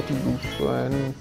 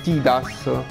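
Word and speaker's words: Tidus: Ok, ho fissato questo T-Bus. Cioè, mi so. Mi sono abituato a dire T-Bus, che in realtà la pronuncia corretta è T-Das.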